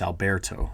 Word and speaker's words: Alberto: and how to say fanatically the names it's Alberto uh when when we get when it gets